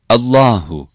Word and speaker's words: Allah: the Holy word Allah the L in this word is pronounced sometimes weak sometimes strong when the letter before the word Allah is f or D or the word Allah comes at the beginning L is pronounced strong Allah when the letter before the word Allah hasra l in the word Allah is pronounced week B letters of mukata